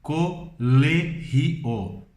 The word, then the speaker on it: colegio: Em espanhol escrevemos da mesma forma colégio, mas pronunciamos colegio.